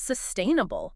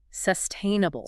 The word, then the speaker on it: sustainable: Where's the emphasis there? Good question. It falls on the second syllable. Sustainable. Sustainable. Got it. And those other vowel sounds like insus and able, they often get reduced. They soften to what linguists call a schwah.